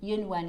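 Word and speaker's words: 云纹: Let me see if I can Yunwen. Yunwen is how you pronounce it.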